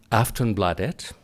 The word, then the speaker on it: Aftonbladet: She is the political editor of Sweden's biggest daily, and I'm told I'm pronouncing this correctly by saying Aftonbladet.